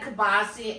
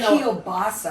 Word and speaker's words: kielbasa: I've always said kibasi. I know I'm Polish, but I always say kibasi. Okay. I think a lot of Pittsburgh people say kibasi. I say even kielbasa. I know that's how it's spelled.